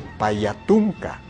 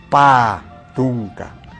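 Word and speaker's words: Patunka: Cuando se está haciendo un conteo de los números, no se dice Payatunca, sino se dice solamente Patunca.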